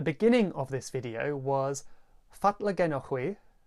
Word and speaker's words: fatla genowgh hwi: What I said at the beginning of this video was fatla genochwi, fatla genochwi.